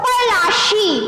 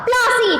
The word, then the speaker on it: पलाशी: का नाम क्या पड़ा, इट वॉज पलाशी, but because of the pronunciation of Britishers it here is named as battle of प्लासी।